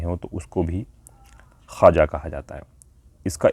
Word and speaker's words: خواجہ: ہوتے ہیں، ایسے ہی یہ واو کا ساؤنڈ نہیں نکلتا، یہ سائلنٹ ہوتا ہے ایک طرح سے، یعنی لکھا جائے گا خواجہ لیکن پڑھا جائے گا خواجہ۔ صحیح تلفظ اس کا خواجہ ہے۔ جیسے انگلش میں نو